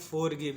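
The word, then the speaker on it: forgive: करेगा ठीक है ना तो आई का उच्चारण करेंगे छोटे ई तो हो जाएगा गी भी का उच्चारण होगा व व का उच्चारण होगा व और ई का कोई उच्चारण नहीं करेंगे क्योंकि क्या है लास्ट में इसको पढ़ेंगे फॉर गिव इसको पढ़ेंगे फॉर गिव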